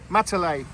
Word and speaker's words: Matale: Matale. Border. Division border. There you go. This is the border. Division, district boundary and division boundary. There we go. Okay, we're on a pit stop. We're just outside Matale City, and we've come across Spice Garden.